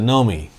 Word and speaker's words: Nomi: she says know me she pronounces it nomi she doesn't even look at